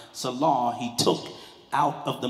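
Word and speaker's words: צלע: we say the pelvis, but it's selah, T-S-E-L-A-W, tis-selah, but the T is silent, selah, he took out of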